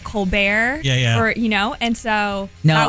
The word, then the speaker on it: Colbert: will pronounce it as Colbert. Right. And it's so funny because I talked to my grandfather about it. My pronunciation of my name actually is Colbert, as if it's an A-U, not an O, which is kind of